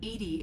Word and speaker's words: EDI: Edy is the phonetic pronunciation of EDI. That is an acronym for enhanced defense intelligence.